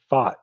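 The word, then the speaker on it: Pfaadt: Fat, is that how he's saying it? Fat? I actually looked this up tonight because I'm like, I don't want to call him Fat. Fad. It's pronounced Fought. Like Fought.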